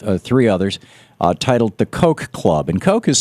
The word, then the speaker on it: Koch: others uh titled the coke club and Koke has spelled uh you know the old mayor of New York used to pronounce it kotch K C and um